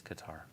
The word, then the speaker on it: Qatar: It is Qatar. It's like guitar, but with a K.